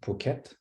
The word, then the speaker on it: Phuket: This will happen in, I don't even know how to pronounce it, Phuket? Sounds French. Phuket.